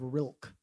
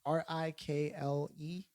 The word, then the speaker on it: Rilke: There's a poet by the name of Rilke, actually is how I've heard it actually pronounced. Rikle, Rilke, right?